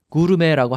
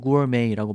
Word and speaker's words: gourmet: 제가 앞에서 설명드린 것처럼 이렇게 ET로 끝나는 영어 아닌 다른 나라 말에서 온 단어들은 발음할 때 끝에를 A 이렇게 발음한다고 했죠. 그래서 gourmet, 구르메라고 하지 마시고 gourmet라고 발음을 하셔야 합니다.